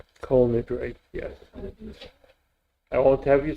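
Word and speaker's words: כל נדרי: Yes, all nitri. Kol Nidre, yes.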